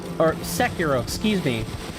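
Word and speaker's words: Sekiro: reinvigorated my love for Seco or Seco excuse me I have to remember not to um relax my mouth and roll that R that's not how you say it in English yeah please tell me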